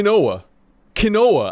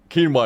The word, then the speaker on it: quinoa: there Jeff said something that makes sense k kinoa I can get behind if you pronounce it like kinoa that makes sense now